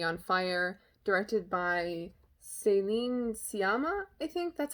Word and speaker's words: Sciamma: The SC is kind of confusing me because that's not common in French, and I'm assuming she's French because the movie is French. Céline Sciamma.